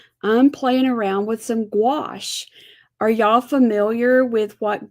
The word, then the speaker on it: gouache: playing around with some gouache. Are y'all familiar with what gouache is? It sounds like squash, but it's with a G and it's spelled nowhere near squash the way squash is spelled.